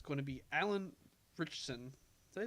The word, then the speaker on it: Ritchson: It's going to be Alan Ritchson. Did I pronounce his name? Ritchson?